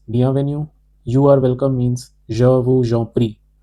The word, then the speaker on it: je vous en prie: You are welcome means je vous en prie. Je vous en prie here, we will apply the liaison rule.